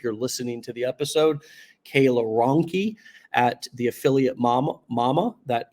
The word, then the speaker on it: Cayla Ronke: Cayla Ronke.